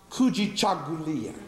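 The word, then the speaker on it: Kujichagulia: into those seven principles and grab one word pronounced kui chulia which means selfdetermination the reason why I want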